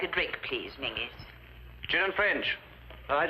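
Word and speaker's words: Menzies: And menses is pronounced mingis.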